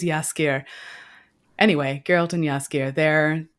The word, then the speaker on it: Jaskier: from existence um uh it's jaskier right yeah scared thank you I don't know how to pronounce the J properly yeah yeah I think it is yaskir anyway geralt and yaski